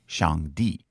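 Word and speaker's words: Shangdi: which was used during the Shang Dynasty it's pronounced Shang D and basically means highest God later this God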